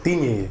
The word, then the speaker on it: Digne: But Ding, what's it? How do you pronounce that? Ding there? Yeah, He's good at free kicks. Digne, that's my bro still.